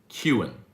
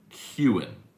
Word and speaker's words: Kewen: Kewen. Okay. So it's 2 syllables. That's what's throwing me off. Kewen. Like a cue ball.